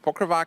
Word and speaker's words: PokerVatch: Is it PokerVatch, PokerVatch? It's PokerVatch in English, and in Czech it's PokerVatch.